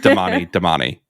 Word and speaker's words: Damane: Yeah, and but by the way, in the audiobooks, they do not pronounce them differently. No. It's just Damani.